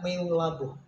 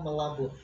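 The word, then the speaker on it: Meulaboh: Sebenarnya itu katanya Meulabu, tetapi ternyata membacanya Melabu.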